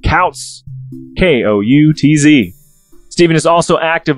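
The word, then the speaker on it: Koutz: important to note that his last name is spelled k-o-u-t-z i said couch k-o-u-t-z stephen is also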